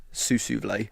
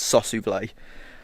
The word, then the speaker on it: Sossusvlei: I said it wrong yesterday. Sussusvlei. It's Sossusvlei. But yeah, that's where we're going to be headed now and it's meant to be amazing.